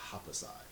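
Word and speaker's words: Happosai: I think you pronounce his name Hapasai.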